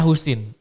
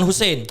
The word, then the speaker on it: Choesin: Nama lengkap gue tuh sebenarnya Husin. Husin Lengkap. ya, bukan Hussein. Bukan, jadi ejaan lama memang CHOESIN tapi dibacanya Husin.